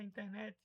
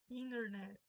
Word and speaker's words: internet: No inglês americano, o N e o T, o T fica mudo. Então pode falar internet, né, mas não seria internet, pode tentar colocar ali no sotaque para se forçar, mas seria inner.